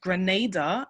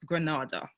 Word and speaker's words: Grenada: now let's start off the first a is a long vowel so is pronounced Grenada and not Grenada so hoping you guys